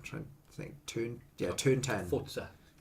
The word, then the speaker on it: Forza: Yeah, no, because they don't know how to pronounce things in Italian.